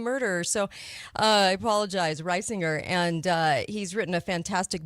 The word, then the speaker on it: Reisinger: It's Reisinger, like the farmer rising shores and Okay.